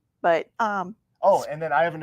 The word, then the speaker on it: Bu: Her name is B-U. I always pronounce it wrong. It's Donna B.